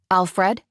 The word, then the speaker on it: Alfred: was his phone anyway Alfred I said relieved that I managed to put the accent on the second vow the Albanian way I'm sorry for being